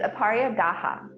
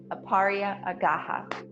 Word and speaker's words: Aparigraha: have to check my notes to how to pronounce it um it's aparia gaha aparia agaha and that means like non-hoarding or um like